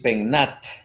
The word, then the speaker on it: PENAT: El PENAT. Así se pronuncia, así lo dicen ustedes, el PENAT.